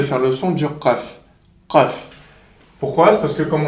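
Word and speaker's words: قاف: Qaf. Pourquoi? C'est parce que, comme on a dit, la langue, elle va venir toucher le palais mou.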